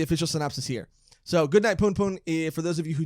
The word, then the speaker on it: Punpun: That's Punpun. Yeah, but that also means something else. But it's P-U-N, not P-O-O-N.